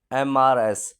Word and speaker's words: Mrs.: MRS is an abbreviation for mistress and is a title used before the name of a married woman.